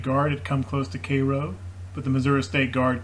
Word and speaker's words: Cairo: kind of seal off cairo here cairo rather i think it's pronounced and that's kind